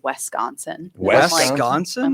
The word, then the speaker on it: Wisconsin: so Roz is supposed to be from Wisconsin. But Oh, is she? She pronounces it Wisconsin.